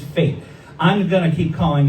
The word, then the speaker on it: Fete: We finally went to, it's called Fate. But when you look at it, it looks like Fete, F-E-T-E, which is a Latin word for celebration, but it's pronounced Fate.